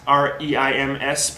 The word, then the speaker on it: Reims: The village that it's from says Reims, R-E-I-M-S, pronounced kind of like Rince, but with an M.